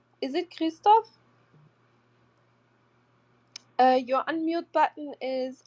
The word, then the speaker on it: Krzysztof: This two letters R and Z are pronounced in Polish as sh which is a bit tricky for foreigners.